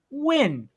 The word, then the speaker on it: Nguyen: name right now it's win my last name is pronounced win i see it in the chat i see it's highlighted by name so nguyen thank you for the